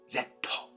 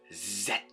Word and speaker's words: zetto: one Piece Film Z or Japanese pronounce it one Piece Film zetto I like the way I like that I like how it rolls up the tongue zetto I like I like